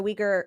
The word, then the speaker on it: Uyghur: huge country and the um region where the uyghur i'm sorry the how do i what's that how do you pronounce it no that was right yeah yeah